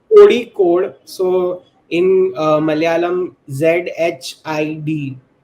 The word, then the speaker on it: Kozhikode: Okay, So so technically, it's Kodi code. So in Malayalam, ZHID. It's pronounced as ID. If I can make it more clear, so it's Kodi code. To be very honest, not Kohi code.